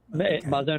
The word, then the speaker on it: MAZON: and did I pronounce is it Mason or Maison or so you pronounce my name correctly the name of the organization is actually Mazon is a Hebrew word it means nourishment or sustenance oh okay great very